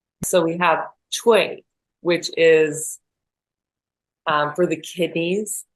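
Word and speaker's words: 吹: So we have Chuī, which is for the kidneys, and that's the water element. And it's ch as in Chinese, and Wei as in way, like W-A-Y. Chuī.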